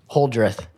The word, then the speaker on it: Holdrieth: Holdrieth.